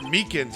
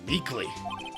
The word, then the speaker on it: Meekins: for it actually officer meekins at the detention center told us ah that poor little doggy poor guy i keep getting his name wrong and calling him meekly he told us something